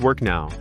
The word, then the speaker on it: WorKnoW: Warno W pronounced work now presents the Prince to Agile Practitioner version 2 course designed for today's dynamic project landscape.